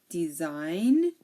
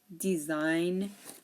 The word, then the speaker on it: design: here um you know it's also usually silent um if GN is at the end of a word like campaign design foreign R and sign so here the g is silent we don't pronounce the G we don't say the G we don't say forign G we don't say sign G campaign design forign Ry and sign okay take a good look